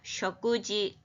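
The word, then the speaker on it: 食事: 우리가 많이 쓰지 않겠어요 식사를 식사 한자는 그대로 읽으시겠죠 쇼크 이거 다 먹을 식자를 동사로는 다배라고도 읽지만 식사할 때는 쇼크라고 읽어요 쇼쿠지 먹는 일꾸지 이때는 너무나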